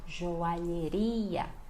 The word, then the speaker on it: joalheria: Então, joalheria. Olha o lhe aqui, olha. Ria.